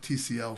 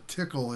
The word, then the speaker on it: Tcl: the tickle expert at tcl for those of you who don't know tickle is the way att pronounced it so you may hear it as tcl it's a programming scripting